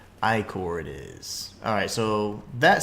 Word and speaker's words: ichor: So, I've heard a lot of dumb pronunciations, but I thought ichor was the term. It's actually ichor, so interesting. Ichor it is.